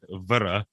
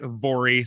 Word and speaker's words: Voirrey: So I went to Google, and it gave me a number of pronunciations that were Voirrey, Voirrey, and my personal favorite, Vara. But Reddit informs me that it is, in fact, Vori, so that's what we're going to go with.